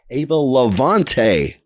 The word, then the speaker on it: Eva Lavante: a brand new episode with a band called Ava Levante yeah you said it right right yeah we're